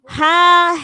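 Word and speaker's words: ح: Jadi haknya juga harus bersih. Ha, hi, ubah bersama. Hu, han, hani, hahna. Minal muhni. mahihan haniha. Nah, jadi khoknya harus ngorok, haknya harus bersih.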